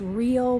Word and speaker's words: Rio: through Rivers I think in Portuguese it's Rio it's Rio but the r is pronounced he I think like an H um but little rivers